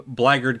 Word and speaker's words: blackguard: an an evil warrior is blaggard or blackguard um just pronounce black over time blagard came to mean any